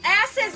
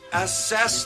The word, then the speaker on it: assess: Myers where he says, "Ass is the window." Okay, stop. Stop. What? It's assess the window, not ass is the window. You put the wrong emphasis on the wrong syllable.